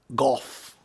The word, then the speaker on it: Gogh: his name is vincent van gogh golf that's how you say it you think special cause